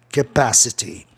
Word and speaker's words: capacity: Capacidade volta ao normal, a palavra termina com consoante Y, a palavra é proparoxítona, o A entre A e E é a sílaba mais tônica, capacity.